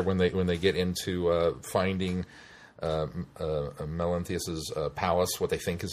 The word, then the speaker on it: Melanthius: Melanthius. Thank you, Melanthius. I had Melanthius. To see it in order to pronounce it.